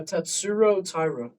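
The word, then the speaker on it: Tatsuro Taira: Uh Tatsuro Tybura.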